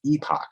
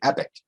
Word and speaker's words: epoch: I also know that it's pronounced epoch, and I choose to say epic.